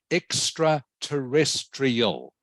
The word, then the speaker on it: extraterrestrial: So the word is pronounced extraterrestrial. Okay.